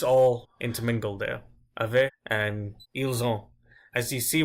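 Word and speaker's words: ils ont: intermingled there other and ile zone as you see when I pronounce eels oh I'm not pronouncing to T a less experienced person French might say something like eels aunt an example sentence for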